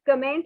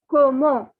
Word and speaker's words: comment: you the first word this word commend that you can see it is not comment okay it is pronounced as como even though in english